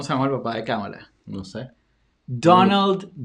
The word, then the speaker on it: Kamala: Acuérdense que es Kamala, como si tuviera acento en la primera A, Ujú, no Kamala, pues ujú, eso es controversial también.